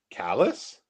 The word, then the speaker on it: Calais: Calais in Maine is pronounced callus.